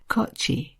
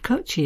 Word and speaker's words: Kochi: and it is and again i hope i'm pronouncing this properly kochi k-o-c-h-i i'd definitely recommend kochie says caroline as